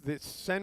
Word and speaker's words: Seine: The Seine River. Seine, the River This, Seine. I'm not going to be one of these pedantic. You have to emphasize something. It looks like the River Seine to me.